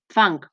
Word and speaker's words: fang: Com que enfangat s'escriu amb G, sabem que fang no s'escriu amb C, que és com es pronuncia, sinó amb G.